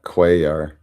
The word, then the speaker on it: Cuellar: Yeah, Cuellar.